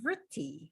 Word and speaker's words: Vritti: You're going to hear about the fluctuations of your mind and what Patanjali called Vritti, which is spelled V as in Victor, Ritti.